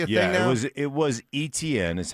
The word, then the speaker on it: Etienne: I guess it's Etienne now, huh?